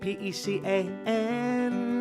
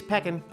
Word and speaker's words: pecan: This nut is spelled P-E-C-A-N. I say let's bring this conflict to an end. Don't say pecan or pecan, it's peckin'. That's what I reckon. Let's call it peckin'.